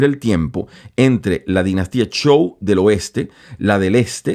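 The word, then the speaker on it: Zhou: viene la dinastía show Usted lo ve escrito show usualmente se les pronuncia show así lo escuchado yo en los especialistas y entonces vamos fíjense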